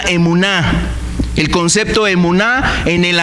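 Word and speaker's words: אמונה: tal, la palabra fe, un concepto hebreo que se pronuncia emuná.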